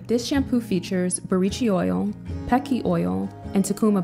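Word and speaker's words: buriti: and think it's pronounced breedy but it's burichi the Brazilian pronunciation of the word this shampoo features borici oil pecky oil and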